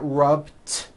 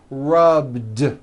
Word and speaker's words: rubbed: yesterday I rubbed all I did was was add a voiced D sound at the end rubbed it's not rubbed with an unvoiced T it's rubbed like that here's another example clean